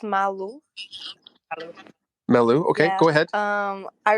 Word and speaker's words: Malu: your question i'm sorry if i'm saying your name wrong m-a-l-u and then unhappy emoji go ahead that's okay uh it's malu hello melo okay go ahead um i really love the